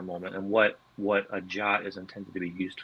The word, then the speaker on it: JWT: about jwbt or uh typically you'll hear it pronounced jot in the community um